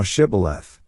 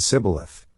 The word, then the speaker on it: Shibboleth: If he said, Nay, then said they unto him, Say now Shibboleth. And he said Sibboleth, for he could not frame to pronounce it right.